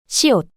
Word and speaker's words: 시옷: 비읍, 비읍, 비읍, 비읍, 비읍, 시옷, The name of this consonant is 시옷, 시옷, is the same S sound you make when you pronounce star.